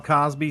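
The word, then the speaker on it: Causby: same thing with me my name is Cosby c-a-u-sby it sounds like Bill Cosby but I'm not kin to him at all and not spelled the same wrong it's like coffee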